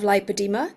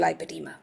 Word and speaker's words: lipoedema: You'll notice that I say lipedema and not lipedema. And I say that deliberately because in Australia it is spelt lipoedema, and I find that really helpful because there are 3 conditions that sound very similar. So in a lot of Europe and the US, they say lipedema, and that's fine.